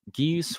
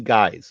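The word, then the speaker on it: geas: executing assassins under uh Gees of The Witch uh yeah that would have been cool you know G guys by the way is how that's actually pronounced guys okay guys yes is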